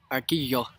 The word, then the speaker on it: Arguello: Arquillo. I'm going to need a pronunciation guide on that one.